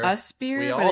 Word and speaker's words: USPEER: I had to look it up how to pronounce it. I thought it was I-spear. USPEER, We but all it's spear.